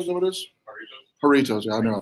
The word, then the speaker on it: Doritos: Dorito? Is that what it is? Doritos. Yeah, I knew I pronounced it wrong.